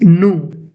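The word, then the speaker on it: nous: Now we have the next pronunciation, that is nu. It's nu. Nu means us.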